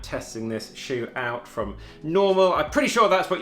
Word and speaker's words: NNormal: this shoe out from normal I'm pretty sure that's what you meant to say the first n is silent and then the edowa